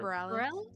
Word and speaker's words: Bareilles: Sarah Bareilles?